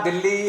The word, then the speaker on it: दिल्ली: आप देख रहे हैं कि हिंदी में आप दिल्ली लिखते हैं, पूरा दिल्ली, हरियाणा, उत्तर भारत उच्चारण दिल्ली करता है, पूरा देश और सब जगह दिल्ली बोला जाता है, किंतु अंग्रेजी में इस शब्द का नाम लिखा जाता है DELHI, जो कि होना चाहिए DILLI।